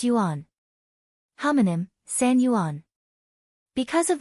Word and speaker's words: Yuan: Yuan pronounced Yuan.